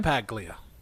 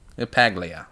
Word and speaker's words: LaPaglia: Is that how you say his name? LaPaglia. LaPaglia. I thought it was a softer G.